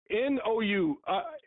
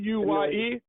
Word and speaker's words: Inouye: Inouye. I can't pronounce his name, so I'm going to spell it for the people. Inouye.